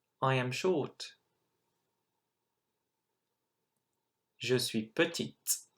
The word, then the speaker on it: petite: Je suis petite. Well done for pronouncing that T and that E at the end.